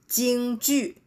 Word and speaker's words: 京剧: 剧院, Beijing Opera, 京剧, right?